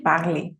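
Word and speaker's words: parlaient: Esta ENT nunca la vas a pronunciar si estás en la conjugación de ellos y ellas. Si termina así la conjugación, esto es mudo, no se escucha.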